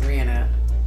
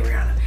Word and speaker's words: Rihanna: rihanna rihanna rihanna rihanna i really want to say it like her because i'm like dang we've been butchering her name for so long she legit says rihanna and we say rihanna it's rihanna that feels so weird before i purchased full